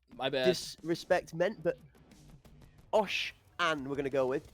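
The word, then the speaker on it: Oshanne: Disrespect meant, but Osh An we're going to go with, GG. Osh so it's An, Osh, okay. OSH-A-N-N-E for pronunciation for you guys in the chat.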